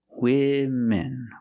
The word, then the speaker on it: women: version women PR ation use a short I sound like this is for both syllables women women women love makeup